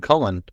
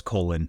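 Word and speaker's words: Colón: Like your name, Cullen. No, it's Colon, Colon.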